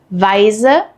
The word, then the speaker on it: Weise: Weise versus Wiese. They look similar but sound totally different. So how do you tell them apart? EI is pronounced like I and IE is pronounced like E.